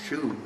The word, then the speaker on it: Shu: Currently, we have a boy named Chu, and another guy whose name rings true, a double rhymer, Ryu Shu. As in shoe fly pie, which only Annette remembers why.